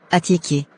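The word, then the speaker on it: attiéké: On dit, atiéké. Atié-ké. Répète.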